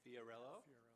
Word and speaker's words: Fiorello: Fiorello Fiorello, LaGuardia.